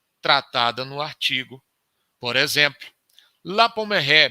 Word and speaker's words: La Pommeraye: Por exemplo, La Pommeraye, me permitam usar aí a pronúncia francesa.